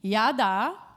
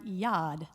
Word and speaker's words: yad: yada and toda are two of those words and